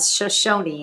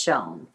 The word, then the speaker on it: Shoshone: learned something in town the locals don't pronounce the e at the end of shoshone and it sounds weird yes uh so it's not shoshone it's just shown yay more water yes